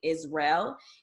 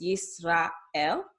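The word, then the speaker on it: ישראל: okay israel and hebrew the a and the are pronounced separately okay we're not putting them together like how we say israel in english it's israel okay and another example is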